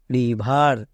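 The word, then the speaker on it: river: Next রিভার, এখানেও দেখো ই এর পরে আর আছে, তাহলে ই এর জন্য আ হবে, ই এর জন্য আ হবে, তাহলে আর আই ভি ই আর, রিভার, রিভার। কেন? কারণ ই আর এটা একটা ওয়ার্ড প্যাটার্ন। নেক্সট আফটার, এখানেও দেখো শব্দের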